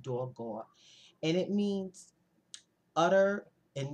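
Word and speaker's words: הגה: So I looked up the word meditate, and it's in the Hebrew is dogah. It's actually spelled H-A-G-A-H, but it's pronounced dogah.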